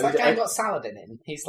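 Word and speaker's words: Salah ad-Din: Or Salahadin, as the Muslims pronounce it. Yeah. Fine. No, he's as good as Saladin.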